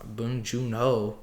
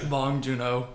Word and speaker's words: Bong Joon Ho: Did I say his name? Bong Junho. Oh, I was close and I just guessed it. Bong Junho. You say well the hole like bring it from your gut.